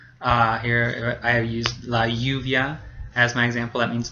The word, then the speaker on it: lluvia: The LL, it sounds just like the Y sound, so it kind of makes a ya or a ja sound. Here I have used la lluvia as my example.